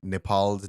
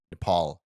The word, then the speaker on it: Nepal: There's a really fun bit going on the Grade Cricketer where they apparently took Nepal's name wrong. Like, they called it Nepal instead of Nepal, which is how we pronounce it.